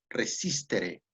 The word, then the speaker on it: resistere: Yo creo que hacer como Aristóteles, eh, aprender y sobre todo hay una palabra en latín que se pronuncia como resistere, resistere, que hace alusión al concepto de resistencia.